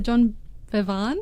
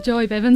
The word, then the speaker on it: Joy Bevan: the John Bevan, if I can say it right. Joy Bevan? Joy Bevan, sorry.